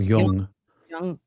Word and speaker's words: Jung: been listening and reading a lot of Carl Young Jung, however you pronounce it. Carl Young.